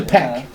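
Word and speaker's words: Pech: Hey, guys, It's pack.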